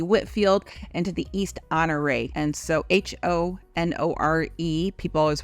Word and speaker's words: Honore: and into the East honoree and so h-o-n-o-r-e people always want to know how we say it we pronounce it honor right here so it's right in